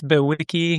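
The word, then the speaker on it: bewickii: But there's, I think, Cygnus Bewicki, if I'm pronouncing it correct.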